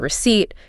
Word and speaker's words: receipt: And that P, silent.